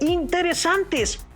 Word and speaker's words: interesantes: las palabras arañas e interesantes. Como pueden percibir, la sílaba ra de arañas y san de interesantes tienen una mayor intensidad y tono en sus pronunciaciones, aunque en la escritura